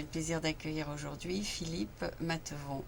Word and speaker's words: Mathevon: plaisir d'accueillir aujourd'hui Philippe matevon n'est-ce pas c'est c'est votre nom j'ai bien prononcé votre nom de famille très bien parfait ok ok donc Philippe